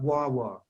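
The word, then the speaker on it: guagua: and other canary islands that they call wawa uh which is gua gua and you pronounce that wawa and that's like a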